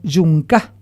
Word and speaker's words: yomacá: denominado por ellos como yomacá cuya pronunciación vaga suena como yunca Qué significa sitio de